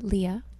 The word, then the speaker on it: Leia: your name lia leia am i pronouncing that right um yes it's uh leah ah leah i'm sorry